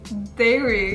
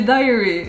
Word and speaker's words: dairy: It also has dairy. Because I can't pronounce it. Dairy. Dairy? Dairy. Dairy. Det är inte dairy. Du säger diary. Du säger dagbok hela tiden. Diary. Dairy. Dairy.